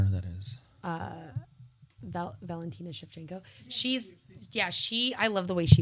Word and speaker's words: Shevchenko: You said chef? Shevchenko. That's how you say it.